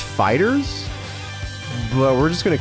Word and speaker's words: FighterZ: Also, Bandai Namco said that this game is not pronounced FighterZ. It's pronounced Fighters, but we're just going to call it FighterZ, because that's what it's called.